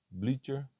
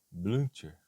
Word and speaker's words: Blücher: Depois com Heinrich Blücher, ou Blücher, depende da pronúncia aí, e ela foi casada de 1940 com ele até 1970.